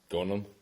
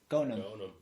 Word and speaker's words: Ghonem: Ghonem. Ghonem. Okay. H is silent.